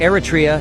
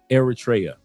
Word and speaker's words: Eritrea: Eratria has over 80. Eratraa. Thank you for the proper pronunciation.